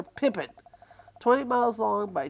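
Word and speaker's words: Pepin: P-E-P-I-N, it's spelled. We call her Pippin.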